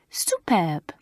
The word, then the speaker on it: superbe: "Ah, if I played you a trick, it would be superb," said Mademoiselle, pronouncing it the French way. "Superbe.